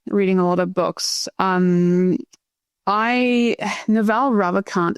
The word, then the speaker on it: Ravikant: It's Naval Ravikant.